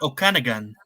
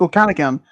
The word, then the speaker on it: Okanagan: Canada this is a lake how do you pronounce this um I think I think it's Okanagan okay yeah so Lake Okanagan which is said be the home to a